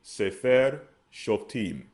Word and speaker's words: Sefer Shoftim: Their pronunciation would be Sefer Shoftim.